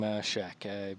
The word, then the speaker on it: Shaq: Give me more because I simply would love more puns on his name, Shaq, because it rhymes. It sounds like Czech.